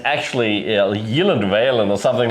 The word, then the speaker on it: Gyllenhaal: It's actually he said the only time it's ever been pronounced correctly is in Sweden and also with um at IKEA and it's actually Yeland or something like that.